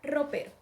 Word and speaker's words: ropero: Hagámoslo con la palabra ropero. Ropero. Ropero. Sentimos que el acento recae en la sílaba P. Por lo tanto, la sílaba P es la sílaba tónica.